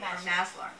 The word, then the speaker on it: Maslar: privilege of introducing Maslar. Did I pronounce that correctly? Maslar.